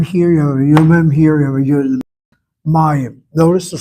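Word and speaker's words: מים: Notice how I'm pronouncing it. May Hebrew Hebrew accents on the last syllable, but this case here is on the second to last syllable.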